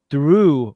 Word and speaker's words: through: There's cough, which rhymes with off, enough, which rhymes with stuff, dough, which rhymes with no, through, which rhymes with do, thought, which sounds like